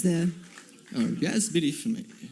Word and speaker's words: Fumey: Oh, yes, Billy Fumey. Fumey from Fumey? Like smoke in French.